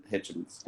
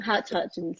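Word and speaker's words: Hutchence: No, I mean you can't forget NXS and Michael Hitchens. Hutchins, yep.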